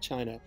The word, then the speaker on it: Qin: finish our discussion with the chin which is of course where the name China comes pronounced chin he was not necessarily